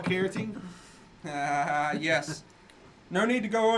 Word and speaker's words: carotene: See, she said beta, Jessica Lemon said beta carotene.